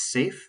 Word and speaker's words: SAFe: you can take is safe certification and that stands for uh scaled agile frameworks s-a-f-e the e is silent but um that's good